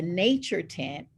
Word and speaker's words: Naturtint: that, then you can get the nature tint. It's spelled Naturtint.